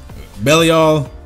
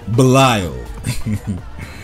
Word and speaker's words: Belial: Okay, let me change the way I say his name. Belial. Because apparently I like saying it the way the game says it is apparently the wrong way to say it, so why not just say Belial?